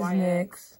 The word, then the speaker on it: NYX: I use the, what do they pronounce it as? NYX. I say NYX. NYX, yeah, NYX, it is NYX.